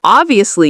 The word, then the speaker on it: obviously: So how do we pronounce obviously? Well, so we have a B and a V. So this word can be a bit difficult for some Spanish speakers. So we put the stress on the first part, ob, and then we have the V, ob-vi. And notice how my lips go under my teeth. Ob-vi-ous-ly. Obviously. Obviously. So the strength is on the first syllable.